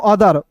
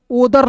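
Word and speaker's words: other: अदर ओदर नहीं पढ़ेंगे। ओ का उच्चारण यहां पे अ के रूप में हो रहा है।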